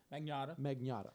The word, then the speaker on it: Magnotta: Magnotta.